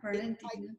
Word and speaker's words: Fernandina: Now, Sunny Mathews lives in Fernandina. Am I pronouncing that correctly? Fernandina.